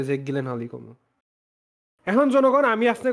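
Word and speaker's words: Gyllenhaal: ছবির নাম হচ্ছে এনিমি, আর ফেভারিট অ্যাক্টরটা হচ্ছে জনগণ জেক জিলেন হল আর কি। খুবই ইন্টারেস্টিং, এটা একটা ইন্টারেস্টিং একটা মুভি। উচ্চারণ গিলেন হল, গিলেন হল। যে গিলেন হাল না জিলেন হাল।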